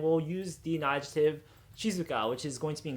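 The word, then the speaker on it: 静か: Cuneo me reading so if we know the kunio me reading of that Kanji character will know that it is Shizue so we'll pronounce this whole word Shizuka as opposed to the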